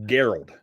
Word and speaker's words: Geralt: one of our viewers it's a hard g so it's gerald oh it's geralt okay